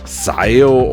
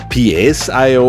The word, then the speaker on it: PSIO: This device is called PSIO or PSIO or however you want to pronounce it.